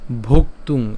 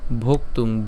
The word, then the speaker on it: ভোক্তুং: হ্যাঁ তালব্য স আছে বিধায় সেজন্য হচ্ছে শ্রেয় উচ্চারণ করলাম শ্রেয় ভোক্তুং এখানে আমরা যেটা করলাম এই ভোক্তুং এখানে ভোক্তুং ভকার এবং হচ্ছে ক আমরা উচ্চারণ করলাম ভোক